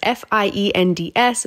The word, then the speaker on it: Best Fiends: got to download best fiends and how you spell that is f-i-e-n-d-s but it is pronounced fiends this is a